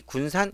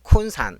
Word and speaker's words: 군산: 자, 그런데 거기서 보면 항상 의정부를 의정부 이렇게 하고 우리 군산 이러면 콘산 이렇게 발음하고 그랬습니다.